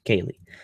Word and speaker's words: Kaylee: sorry Kaylee she said you said my name wrong but that's okay it's pronounced Kaylee uh Robert says beware